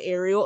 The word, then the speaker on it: Ariel: If we're going to spell it this way, it's got to be Ariel.